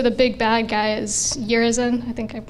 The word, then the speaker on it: Urizen: Most notably, V speaks his poetry and refers to the big bad guy as Urizen. I think I pronounced that correctly. Urizen, you got it, you got it.